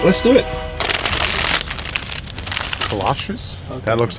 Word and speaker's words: Kolaches: Kolaches? Kolaches, okay.